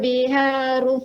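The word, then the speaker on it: الْبِحَارُ: Kemudian ha di sini dibaca dengan tengah tenggorokan sifatnya. Biharu fujirat. Wa idzal biharu fujirat. Ya. Kemudian ru dibaca dengan tebal, tidak biharu. Ini bacanya takrirnya banyak, ya. Jadi dikurangi takrirnya, pengulangan ro-nya itu lebih sedikit.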